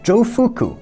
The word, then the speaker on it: Jofuku: So according to Japanese legend, Jofuku, which is how you pronounce Xu Fu in Japanese, came to Japan and taught people farming techniques and settled the area.